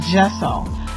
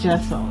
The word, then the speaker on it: gesso: Montague, informed me that I didn't know if it was a soft G or hard G, but anyway, it's gesso. And I have a few videos where I'm calling it gesso, but it's gesso, people.